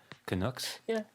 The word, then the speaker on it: Canucks: the match between the Canucks. Oh, I'm not pronouncing this right. Canucks. yeah, you got it.